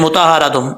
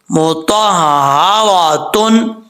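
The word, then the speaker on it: مُطَهَّرَةٌ: ہا کے اوپر شد ہے، وہ پڑھ جاتے ہیں مطہراتم. ایسے نہیں پڑھنا، بالکل غلط ہے. کیسے ہم نے پڑھنا ہے؟ ہجے کر کے میں آپ کو بتاتا ہوں. میم پیش مو، تو ہا زبر تو، ہا زبر ہا تو، را زبر را تو، را تا دو پشتن مطہراتن.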